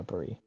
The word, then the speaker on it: Brie: way inside just checking that's pronounced Brie right yeah Bree okay as she walks